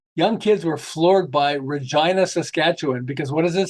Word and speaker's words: Regina: place you might want to visit it it's Regina it rhym fun they actually shared it people